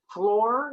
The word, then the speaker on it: floor: line nights deals in floor is spelled with two O's but it's sung with an A and an H yes is it floor